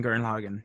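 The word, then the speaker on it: Gurren Lagann: g-u-r-r-e-n-l-a-g-a-n-n the entire title is top of tegan guern logan don't listen to the aj he's full of you just pronounced it perfectly chocolatity and guern logan yeah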